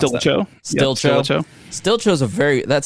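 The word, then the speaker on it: Stilicho: please pronounce Stilcho. Stilcho.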